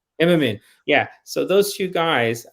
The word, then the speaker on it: Immonen: don't know how you say his name, but Immerman. Immonen.